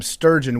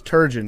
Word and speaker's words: Turgeon: or they call him sturgeon, which is actually the name of a fish. Yep. But it's Turgeon.